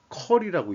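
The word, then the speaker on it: Macquarie: 아시안 프로퍼티 펀드, 어, 맥커리라고 읽어야 되겠죠.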